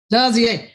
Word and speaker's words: Dazier: All right, position 8, Dazier, how you say it? Dazier.